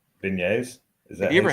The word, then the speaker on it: beignet: Beignets. It sounds like Beignets. beignets. It's a soft G.